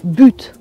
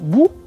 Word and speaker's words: but: être compris par exemple si vous dites le mot but ou but vous le prononcez Bou là vous aurez un problème allez voir la vidéo